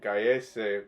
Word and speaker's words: Gallese: How do you pronounce his name? It's Pedro Gallese. Gallese.